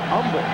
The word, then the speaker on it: Humble: film he's comfortable and that's pronounced humble texas age is silent as i've been told about four times today avm black with the